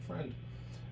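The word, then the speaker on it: Freund: is Friend yeah that's how you pronounce my last name it's f reu n d it's Geral word for friend and that's just the way I was raised my last name we pronounce it friend uh I was inspired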